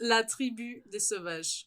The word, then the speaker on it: La Tribu Des Sauvages: It's La Tribu Des Sauvages, which means the tribe of the wild. Yeah. Yeah, the S. I don't pronounce the S at the end there. Okay.